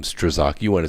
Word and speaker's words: Strzok: peter strzok that's how you say his name strzok you want to say stroke or struck but it's strzok it got this documented and now the declassified